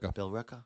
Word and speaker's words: Billerica: Billerica.